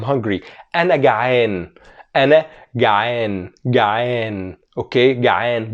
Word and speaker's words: جعان: جعان. Okay, جعان. Don't forget to pronounce the عين right.